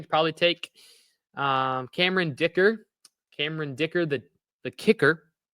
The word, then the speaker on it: Dicker: You can rhyme it with kicker. Your position your your last name rhymes with your uh what what's it? Your last name rhymes with your position.